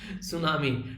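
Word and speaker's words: tsunami: हैं वो cyclone सुनामी बोल रहा हूँ सुनामी, टी साइलेंट होता है, ठीक है कई बार ना ऐसा लगता है बिल्कुल जीभ स्लिप हो जाती है।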